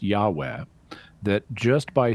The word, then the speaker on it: Yahweh: the so-called tetragrammaton, which in English is commonly pronounced Yahweh, that just by saying the name Yahweh, you